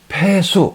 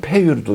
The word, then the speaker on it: 폐수: 얘기합니다 폐수 폐수 이렇게 이거를 u자로도 한의학에서는 이거를 앞에가 수레 글자가 생략됐다고 그래서 어떤 분들은 이거를 유라고 읽는데 우리 저희들 생각에는요 앞에 수레거가 생략이 됐다고 했기 때문에 이거를 폐수라고 있습니다 수 그래서 어떤 사람은 폐유도